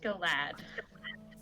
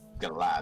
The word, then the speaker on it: Galad: Pete, I just wanted to say my name's actually pronounced Galad. Galad.